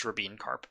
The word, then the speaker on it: Rabin-Karp: own thing and yes that is the correct pronunciation it is rabine carp uh we used to get it wrong like